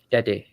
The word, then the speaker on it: Tete: Tete, yeah.